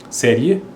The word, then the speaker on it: série: E-A, na verdade, na pronúncia é I. Então, é área. Série, ye.